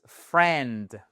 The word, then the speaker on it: friend: Ça se prononce friend. Friend. On ne prononce pas le i.